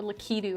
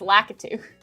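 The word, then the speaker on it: Lakitu: uh yeah, Latu or Litu as some people pronounce it. And I'm like, "No, no, it's lacatu."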